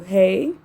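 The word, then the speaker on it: ה: The Hebrew letter is pronounced with an HA sound because English speak scholars and mystics translate Hebrew sounds phonetically.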